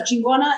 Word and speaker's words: Chingona: Chingona, as long as it's pronounced right, it's good, powerful term for women.